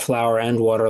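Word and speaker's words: Flour + Water: And the first restaurant we opened, it's spelled flour plus water, as you said it earlier. We call it flour and water, like the ingredients for dough.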